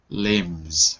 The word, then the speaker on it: limbs: Do we pronounce the B or is it silent? Limbs. It's silent, no? Limbs. Well, limbs. It's silent. Limbs. In this case, it's silent. Certainly, if we're speaking quickly, it would be silent. If we're speaking quickly, sure. Limbs. We just say it like that. Limbs. Limbs. It's silent. We'll go with silent.